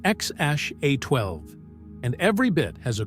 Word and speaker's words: X Æ A-12: a secret code right it's pronounced xash a12 and every bit has